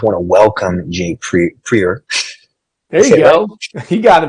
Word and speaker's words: Prieur: discussion well I apologize prer is a French Canadian last name so uh on top